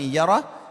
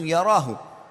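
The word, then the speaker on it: يره: Wa man ya'mal mithqala dzarratin syarran yarah. Kalau diberhentikan bacanya yarah, tapi kalau dibaca langsung yarahu.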